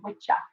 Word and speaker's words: Wicca: appropriate okay appropriately done and and so our wicca is different than english wicca all right or witcher as it should be pronounced yes i'm dying of first i couldn't